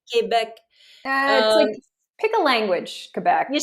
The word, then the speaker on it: Quebec: it um that's quebec first of all quebec that's how you say it quebec pick a language quebec